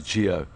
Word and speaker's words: Gio: So we have been told by Gio Aplon's mother that it's Gio.